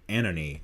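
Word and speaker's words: ANOHNI: we're going to do anony i think that's how you pronounce it in her album a-n-o-h-n-i uh she was formerly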